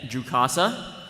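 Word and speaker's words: Jukassa: the next character uh it's officially pronounced is that ju casa a number of dialogue lines in the script zero played by jet Lucas all right Tim you got some facts about zet jukasa to share with us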